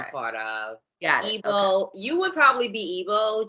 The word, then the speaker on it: Igbo: Igbo, right? I'm sorry? You said Igbo, right? Yes. Yeah, Igbo, okay.